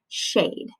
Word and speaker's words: shade: If I'm sounding out the word shade, aid, I don't want to forget that silent E because otherwise it'll just be shad. Do I want it to say shad? No, I want it to say shade. It says shade with a silent E.